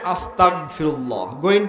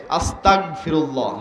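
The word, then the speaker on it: أستغفر الله: হয় না আমাদের সহি করতে হবে উচ্চারণটা হবে আস্তাগফিরুল্লাহ উচ্চারণ হবে আস্তাগফিরুল্লাহ তাহলে অর্থ হবে আল্লাহ আমি তোমার কাছে ক্ষমা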